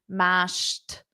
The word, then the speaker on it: mashed: close close yes mashed notice the pronunciation with a t mashed mashed mashed mashed potato mashed potato